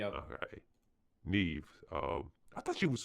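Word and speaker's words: Niamh: And and Mave I thought was um is it Mave or Nive? Uh Nev. That's Yeah, the Irish words Jesus Christ. I can pronounce some of them, but uh it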